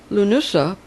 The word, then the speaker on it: Lughnasadh: you Nusa 31st july loo noosa and it shows you how to pronounce it L oo and us you H it looks like the D is silent so it's pronounced loo